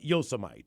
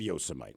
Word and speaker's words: Yosemite: I don't know uh the president just mispronounced the name of some place right like yosmite or whatever but you realize we're not going to talk about that because it won't be about the pronunciation it BEC political and everybody butcher you just don't like no dude look he said Yosemite normally we could just